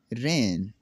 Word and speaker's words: reign: कैसे जी साइलेंट होगा? ये जी नहीं पढ़ा जाएगा इसमें। नेट, पिस्सू, रिज़ाइन इस्तीफ़ा देना, डिज़ाइन नमूना, रेन हुकूमत करना।